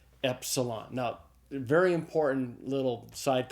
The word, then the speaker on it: epsilon: And the next letter is an epsilon. It's a short e sound. It's like the e in the English word met.